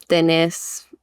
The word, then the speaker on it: tenés: So like tenés, thus it's like it sounds very similar, but the accent is on the vowel at like the end of the word.